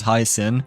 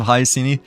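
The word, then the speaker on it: Hyacine: technically I know that her name is you know supposed to be pronounced as highin I guess instead of hyini so I guess like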